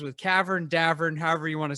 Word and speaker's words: Davern: so we get it it's davern it rhymes with cavern rhymes with tavern uh my mom doesn't